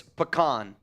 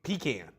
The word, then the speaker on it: pecan: Sam says no, it's pecan. See, now you just sound like a cop. I think it's pecan.